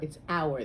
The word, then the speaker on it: hour: to say an hour even though it starts with an h it's not pronounced pronounced hour it's hour the h is silent